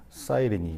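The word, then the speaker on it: Cyrene: 구레네, 요즘 표현을 하면 이제 뭐 키레네 뭐 이렇게 되는데 영어 발음으로 하면 사이리니 뭐 이렇게 되죠.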